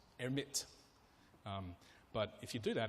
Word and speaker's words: Hermite: It's French, so I think it's Hermite.